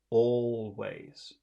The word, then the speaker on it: always: Now, the word always, where is all of the emphasis? Which syllable has all of the emphasis? My mom always nags me. Where's the power in that word? Wait, always, No, wait. no, it's not. That would be always, but it's not always. It's always. Oh, the All. first. It's the first one.